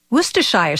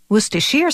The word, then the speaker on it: Worcestershire: of a tongue twister worcestershire sauce worcestershire sauce worcestershire sauce all those pronunciations are acceptable as are the endless